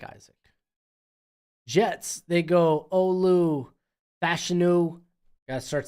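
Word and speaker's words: Fashanu: Jets they go Olu fashu gotta start saying his name right he has come out and said it is pronounced fashion and Ricky parsa man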